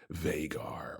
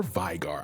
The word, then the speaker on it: Veigar: But let's talk about the man himself, Veigar or Veigar. I've never really looked up. I think either pronunciation is good.